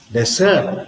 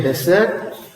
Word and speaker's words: desert: on the first syll desert means the place where you have only sand desert see nothing grows except few fruit like d and so on see desert and of course when you have the stress on the second C desert desert what does it mean you say desert desert means you are deserted left alone you are ignored you are ignored see that's what it means